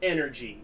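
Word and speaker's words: NRGEE: Our company's called Energy. It's spelled N-R-G-E-E.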